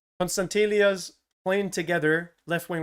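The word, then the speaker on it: Konstantelias: I really just want to see Carretzas and Constantelias. Yeah, I've been saying it right. Constantelias playing together, left wing, right wing.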